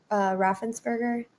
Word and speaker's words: Raffensperger: Apparently, the Georgia Secretary of State, Raffensperger, is that how you say his name?